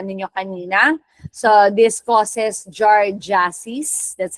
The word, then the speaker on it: giardiasis: So this causes giardiasis, that's how you pronounce that.